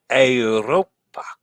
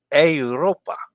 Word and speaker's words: Europa: Dennis says A is in day. Europa. Not Europa. Yeah, I know it's I. Europa. Was I saying it wrong? Sorry about that. I knew it was Europa. I know how to pronounce an E. It sounds like an A.